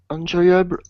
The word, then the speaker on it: enjoyable: Lively and enjoyable fun. Lively and enjoyable fun, yeah. By the way, careful the pronunciation. Enjoyable. Enjoyable. It looks like en, but that would be French. In English, in. Okay.